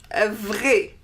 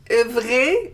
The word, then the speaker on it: vrai: For example, vrai. Vrai means true. Vrai. There is an I at the end, I in French. Vrai. For the feminine, we add an E, but the pronunciation doesn't change.